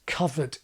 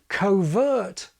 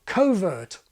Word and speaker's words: covert: But on second thoughts, of course covered isn't the pronunciation of this adjective. Not anymore. Covered is still used for the noun meaning a hiding place in the undergrowth. But the pronunciation of the adjective, the one that I would teach, is now covert or covert. The stress is shiftable.